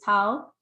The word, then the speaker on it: Tal: So as you could see, this person said, my name is Tal, and my name rhymes with cow.